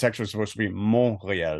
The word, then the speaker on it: Montreal: kept calling like uh Montreal Montreal but it it's actually supposed to be mon so you don't pronounce the T man people have a